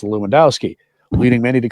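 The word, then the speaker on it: Lewandowski: stumble over the pronunciation of his last name, pronounced Luwendowski, leading many to call him Bishop Bruce."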